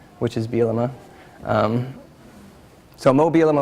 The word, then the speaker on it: Bielema: supposed to be so people could actually uh pronounce my last name which is bilima um so mobile am I was supposed to